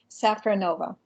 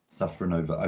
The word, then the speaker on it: Safronova: with names um so and your surname sacranova safranova okay and you're based in new york and